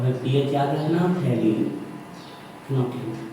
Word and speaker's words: phenolphthalein: यहाँ से L silent है और यहाँ से आपका पीएच तो पीएच को तो जोड़ लेंगे, यहाँ पर पीएच साइलेंट है तो फिनोल्फथलीन ऐसा इसका नोट कर लीजिए, फिनोल्फथलीन।